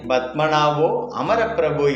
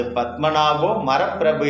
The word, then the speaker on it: பத்மநாபோ அமரப்பிரபு: என்னென்று சொல்வது என்று வியந்தார் திருமாலை பத்மநாபோ அமரப்பிரபு என்று உச்சரித்து சேவிக்கும் வழக்கம் உண்டு ஒரு பாகவதற்கு அது பத்மநாபோ மரப்பிரபு என்று உச்சரிக்க வந்துவிட்டது அவர் மரம் என்று என்று